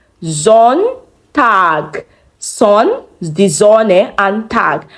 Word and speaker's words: Sonntag: Sonntag. Sonntag. Son, the Sonne, and Tag. However, there's no E, not Sonnentag now, but Sonntag. Sonntag.